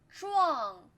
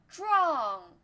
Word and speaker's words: 壮: This is not 专, this is 知 u ang. 壮壮.